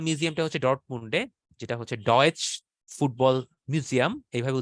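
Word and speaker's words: Deutsches Fußballmuseum: তো জার্মানির ফুটবল মিউজিয়ামটা হচ্ছে ডর্টমুন্ডে, যেটা হচ্ছে ডয়েচ ফুটবল মিউজিয়াম, এইভাবে উচ্চারণ করে তারা।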